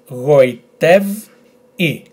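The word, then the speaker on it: γοητεύει: So, we have G, O, I, Goi, t, ev, goitev, I.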